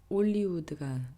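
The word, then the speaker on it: Hollywood: 피오니 아 올리우드 아 이게 불어 발음으로 할리우드가 올리우드 되는데요 조금 웃기긴 하지만 아무튼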